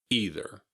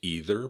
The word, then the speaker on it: either: Either. In North America, this word is usually pronounced either by most people, and in the UK, it is also commonly pronounced either.